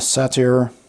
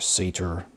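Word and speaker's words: satyr: art for that one a satire or a seder however you want to pronounce it a c singer kind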